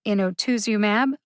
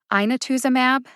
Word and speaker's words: inotuzumab: the written pronunciation for inotuzumab ozogamycin is in the show notes too one of the trickiest things about pronouncing drug names is the vowels when i looked up